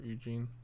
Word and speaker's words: Ugin: It's pronounced Ugin or Eugene.